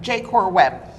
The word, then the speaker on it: JaCorWeb: He is with, how do you pronounce it? JaCorWeb. JaCorWeb.